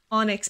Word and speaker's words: Onyx: Onyx. It is pronounced like onyx. It really is. That's the best way to put it, is like the gem.